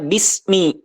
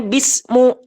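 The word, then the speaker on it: بسم: kalimat Isim yaitu yang harusnya dibaca kas karena kemasukan huruf Jar harusnya Bismi tapi kita dibacanya bismu atau Bisma ya maka ini merubah rabnya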